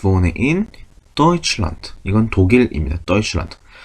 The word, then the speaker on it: Deutschland: Deutschland. 자, 여기서 또 다른 중요한 이중 모음이 나옵니다. 바로 에하고 우가 붙어있는 거 어떻게 발음한다? 오이라고 발음합니다. 오이. 오이. 그래서 Deutschland라고 발음합니다.